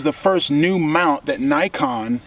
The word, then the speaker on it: Nikon: From a historic standpoint, this is the first new mount that Nikon has, or Nikon, I like the way the British say it, Nikon, that Nikon has made since 1959.